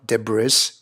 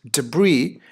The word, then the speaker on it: debris: s-sound here right so it's never Deborah's it is debris which tends to be the American way of saying it like you see it here where the emphasis is on the second syllable is a debris the